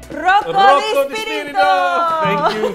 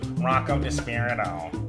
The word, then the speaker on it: Rocco DiSpirito: Rocco DiSpirito. Thank you for pronouncing it properly. You're the first person who can handle the rrr and the three syllables and the musicality of it.